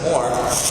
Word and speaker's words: Moher: But this is in Ireland, actually at the Cliffs of Moher, or Cliffs of Moher, depending on how you pronounce it.